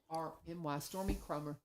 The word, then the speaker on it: Stormy Chromer: STORMY Stormy Chromer KROMER. Stormy Chromer. And just like it's spelled.